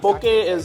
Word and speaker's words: Poké: Poké is the correct pronunciation with it.